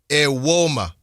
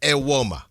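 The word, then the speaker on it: Evbuomwan: Apparently the N is silent.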